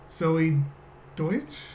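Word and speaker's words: Zoey Deutch: Zoe Deutsch.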